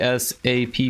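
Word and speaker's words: SAPP: This is SAP. P S A P P. I'm pretty sure it's pronounced SAP.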